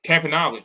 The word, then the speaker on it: Campanile: I had not realized the the quarterback's coach was Nunzio Campanile. Or how'd you pronounce that? Sorry. Campanale, yeah.